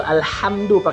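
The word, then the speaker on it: الحمد لله: air keduanya berarti alhamdulillahirobbilalamin ingat pengucapannya yang betul Alhamdulillah sehat do lillahi rabbil alamin ah pakai ah bukan bunga ah ngak beda jauh berbeda pakai Angke alhamdu lillah hamdu segala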